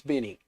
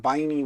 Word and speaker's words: Binny: And if I'm wrong and I'm saying it wrong, too bad, it's Binny. Because he said Binny with a little I, not Biney with a big I.